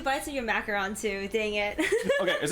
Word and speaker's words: macaron: Oh man, and I took 2 bites of your macaron too.